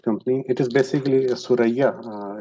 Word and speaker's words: Thuraya: If you in Arabic or Urdu, the word is Suraya. It's a constellation of stars. And so, if we translate it from Arabic to English, or we pronounce it from Arabic, so it became a Thuraya.